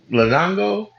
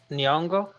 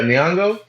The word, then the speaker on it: Nyong'o: Lapita Lupita, Nango, I think. oh, Nyong'o. Yeah, Nyong'o.